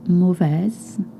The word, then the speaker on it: mauvaise: Why do I pronounce mauvaise? Because journée, not journey, journée, which means day, is a feminine word.